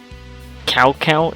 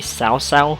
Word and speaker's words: Cao Cao: mispronounced the names, because the way you pronounce Cao Cao is actually supposed to be Cao Cao because it's Chinese.